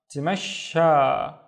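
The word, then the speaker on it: تمشى: So the first syllable is T, and then mash, and then sha. Tamasha.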